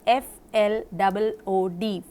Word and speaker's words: flood: When you say flood, it is F-L-O-O-D, flood. But blood and flood are not pronounced as food.